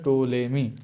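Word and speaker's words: Ptolemy: उसके बाद हमारा स्पेलिंग इसे पीस साइलेंट रहेगा और हमारा प्रनंसीएशन होगा तोले मी ठीक है उसके बाद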